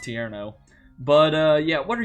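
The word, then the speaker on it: Tierno: got into a battle I don't know why I said Torino um I'm pretty sure it's pronounced tiero but uh yeah what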